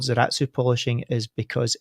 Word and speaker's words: Zaratsu: pronounced in German and the Japanese pronunciation of it is zaratsu so they were all